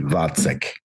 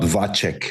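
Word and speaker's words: Vacek: So, V. So, you could probably e the easiest you could pronounce this would be V A D S E K. Vatk, not Vachk like I said.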